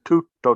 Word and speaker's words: tutto: What Barbara was saying to you, tutto, tutto, right? The Italians sometimes stop the sound. They go tutto, tutto, right? If you do it fast, it's tutto, tutto, and you stress the first syllable.